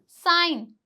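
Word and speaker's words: sign: जी के बाद एन आए तो जी साइलेंट होगा। जी के बाद अगर एन आ रहा है तो जी क्या हो जाएगा? साइलेंट हो जाएगा। जैसे कि साइन अ साइन तो यहां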